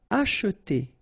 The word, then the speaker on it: acheter: Acheter quelque chose sur le marché. Okay? And then remember that in many cases we won't pronounce this here, so it will go like acheter.